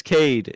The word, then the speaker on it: Cade: Like, it's Kate. No other syllables. It's just Kate. You ran into Brian. The announcer says, "We apologize. It's Cade. It's just Cade. No other syllables. Just Cade."